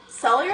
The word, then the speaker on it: cellular: Cellular respiration. Patty, it's cellular with 3 syllables. Cellular.